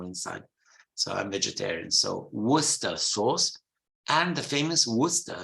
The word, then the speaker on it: Worcester: like Lester gluster Musta Worcester Worcester not World War whatever is famous for